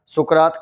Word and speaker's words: सुकरात: तो सुकरात की अपन बात करें तो प्राचीन यूनान ग्रीस में एक व्यक्ति था जिनका नाम था सोक्रेटीज और इनका ही हिंदी और संस्कृत उच्चारण सुकरात कहलाया।